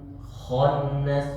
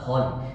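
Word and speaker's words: الخناس: Khannas, enggak khon, tapi bacanya khannas.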